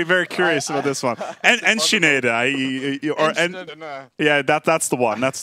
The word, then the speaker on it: Enschede: How again did you pronounce it earlier on? I'm very, very curious about this one. Enschede.